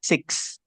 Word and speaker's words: six: Nah, tadi Abdul di sini. So, kalau enam itu jangan cuman berhenti di si ya, tapi ada s-nya six. Because when you pronounce it si it means sakit nantinya kayak gitu.